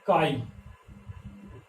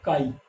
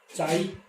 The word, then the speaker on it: chi: और जो ये सिंबल आया है ना, इसको हम बोलते हैं काई, ऐसे लिखोगे इसको, और इसकी प्रोनाउंसिएशन क्या होगी, काई। ठीक है, ये सिंबल क्या है, काई है, प्रोनाउंसिएशन इसकी काई है, और इसको लिखते हैं ऐसे CHI, चाई या ची, ऐसा नहीं बोलोगे आप, इसको क्या बोलोगे, काई।